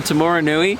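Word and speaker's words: Taumarunui: great this is mean oh get Luke to pronounce that Tim aroon tomorrow Rooney that wasn't even close oh it's tomorrow yeah so uh we're in tomorrow Nui we're driving um eight hours between Auckland and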